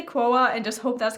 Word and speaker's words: Quo: how you pronounce it she wrote a little uh note in the package saying it was pronounced like woah so i'm guessing it's quoa even though it's written like q-u-o so i'm gonna say quoa